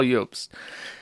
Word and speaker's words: Jobst: I don't know if you pronounce it Jobst or Jobst. I'm going to say Jobst because that looks correct to me. He looks Scandinavian, and the J is a Y in Germanic languages.